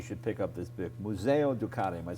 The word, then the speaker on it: Museo Ducati: Now, if you have any doubt that motorcycles are art, then you should pick up this book, Museo Ducati.